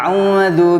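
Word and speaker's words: أعوذ: A'udzu billahi minasyaitonir rajim. Kebanyakan kesalahan sama pengucapan antara alif dengan ain. Ya. Atau enggak a'udzu. Ya, fatal itu. Merubah artinya, bahkan mungkin enggak ada artinya. Ya. Jadi harus dibedakan.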